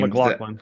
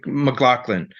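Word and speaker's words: MacLachlan: McLaughlin. McLaughlin.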